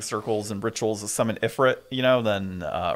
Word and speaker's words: Ifrit: and rituals the summit Ifrit you know then uh or E3 depending on how you want to pronounce it uh yeah I don't